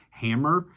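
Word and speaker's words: Hamor: We see how Jacob buys a plot of land from a man named Hammer.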